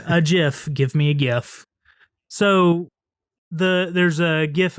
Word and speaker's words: GIF: you seen the the gifts and I'm sorry if anybody's listening that wants to pronounce a jiff I don't agree with that it's gif to me anyways so have you